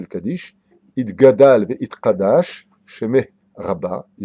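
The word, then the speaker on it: יתגדל ויתקדש: Et d'arrêter de dire ce qu'on entend dans toutes les synagogues, Itgadal ve Itkadash, parce qu'il n'y a pas marqué Itgadal ve Itkadash, il y a marqué Itgadal ve Itkadash. C'est un guimel et non pas un kaf ou un kouf.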